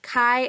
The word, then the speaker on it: chi: a fancy X and it's pronounced Kai as in kite and written looking like